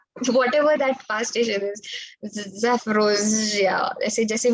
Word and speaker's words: Zaporozhye: It has multiple ZH inside it. So that power station, that nuclear power station is the one that I'm talking about. Thank you. Whatever that power station is, Zaporozhye, ऐसे जैसे भी pronounce